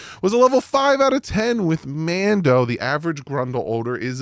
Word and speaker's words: Mando: head to toe with Mando and that's how you know how to say their name properly cuz it rhymes with toe it's Mando um but for real